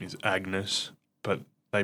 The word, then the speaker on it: Agnes: It's like um his wife's name is Agnes, but they pronounce it Anus because they don't pronounce it with a hard G.